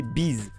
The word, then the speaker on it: B'z: par le groupe japonais B apostrophe Z prononcé bise oui oui comme la bise fin le synonyme du bisou c'est un groupe de